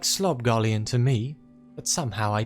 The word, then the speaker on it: Slobgollion: Files once twice Thrice let's discuss the rubbery Corpse's pronunciation thob galon schob Delon what is Mr McIntosh trying to say it sounds like sloban to me but somehow